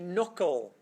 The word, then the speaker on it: knuckle: called the knle the knuckle I know I can never I can't spell okay right it's a silent k yeah so from north